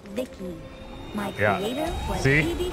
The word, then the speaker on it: V.I.C.I.: By the way, I'm V.I.C.I, pronounced Vicky.